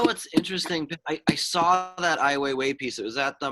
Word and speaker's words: Ai Weiwei: Ai Weiwei.